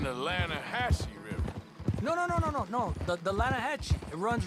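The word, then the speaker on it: Lannahechee: The other day, I rode down to the Lanahatchee River. I caught some beautiful steelhead trout. You mean the Lanahatchee River? No. The Lanahatchee. It runs right near here. Yeah, but it's pronounced Lanahatchee. Why is everything in English said differently than it's written?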